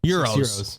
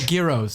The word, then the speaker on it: gyros: Euros. Euros. Okay. What's a Are euro? you saying euro? The sandwich? No, gyros. Gyros. Gyro. Okay. You pronounce euro.